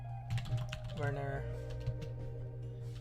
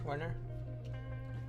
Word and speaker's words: Werner: on internet so far is uh reinvent um burner is that how you say his name Werner yeah this key let me let's actually do